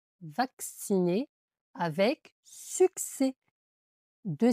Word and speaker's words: succès: Donc ça fait le son X vacciner avec succès.